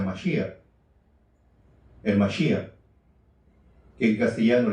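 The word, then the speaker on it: משיח: Cuando hablamos de Cristo, en hebreo se pronuncia Mashiach, el Mashiach, que en castellano le decimos Mesías, y en griego es ungido.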